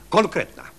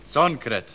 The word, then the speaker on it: konkret: Konkretna. Conkret. Właśnie. Nie conkret, tylko konkret. Pisze się conkret, a wymawia się konkret.